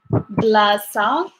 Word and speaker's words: بلاصة: that certain place, you would say وش كاين بلاصة ل, and then you would say whatever you want to say.